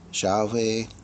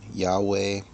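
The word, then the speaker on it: Yahvé: Bueno, a veces algunos pronuncian Jehová, otros Yahwé. Yahwe, ya hay varias maneras que pronuncian, pero está hablando de tetragrametan, que es el cuatro letras del nombre santo de Dios.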